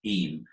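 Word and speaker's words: Eyam: busy in summer easy very very busy he's pronounced em very spell of you I am am but pronounced him so you've got major centres Matlock and Matlock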